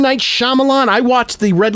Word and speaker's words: Shyamalan: And the reason why I don't like Jay is because he mispronounces people's names. It's M. Night Shyamalan.